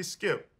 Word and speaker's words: Skip: mr miles oh girl call me skip rhymes with dip okay maybe we could